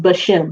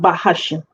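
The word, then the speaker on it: בשם: as in the soul it's just bashem not by hashem that's that's because people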